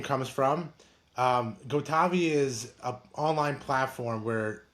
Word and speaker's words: gotavi: So, it's pronounced Gotavi, and I was founded by my dad and uh two other co-founders.